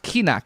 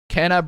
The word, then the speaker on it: Kena: Isn't it pronounced Kina? Kina? No, Kena. Kena Bridge of Spirits. I'm pronouncing it Kena. I don't care if it's pronounced Kina. I pronounce it Kena.